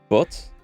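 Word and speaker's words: butte: pretty wine hey that outcropping is called a butt is how it's pronounced just um just as it looks here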